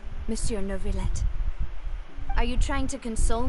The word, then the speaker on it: Neuvillette: It's pronounced Neuvillette.